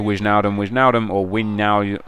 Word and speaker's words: Wijnaldum: Somebody actually showed me in the comment section of the last video how to pronounce his name, and it's Wijnaldum, but it sounds so wrong because it's got a J in it, so I'm going